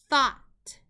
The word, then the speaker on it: thought: a short o sound ah the word is thought in this word is a part of